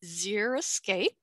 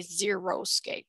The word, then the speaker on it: xeriscape: greek for dry plus scape a scene so pronunciation is zero escape and how not to say it or the